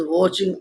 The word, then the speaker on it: watching: He is always watching us and knows everything. He is always watching us and knows everything. He means वो, is means है, always means हमेशा, क्या बेटा, WATCHING बेटा, T silent है, watching में बेटा देखना।